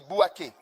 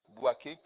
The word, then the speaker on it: Bouaké: Le prochain, c'est Bouaké. B-O-U-A-K-E, je crois. Bouaké.